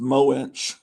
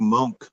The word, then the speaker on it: Moench: That was that Bill Mantlo and Michael Golden or something, or maybe Doug Monk. It was good. Yeah. I always thought it was pronounced Moench, but now I hear people pronounce it that